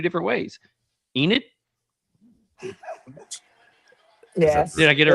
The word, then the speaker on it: Enid: Enid? Yes. Did I get it right? Me. All right. Enid.